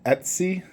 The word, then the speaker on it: Etsy: pronouncing it wrong at c-e-t-s-y Etsy I believe is how you pronounce it however there is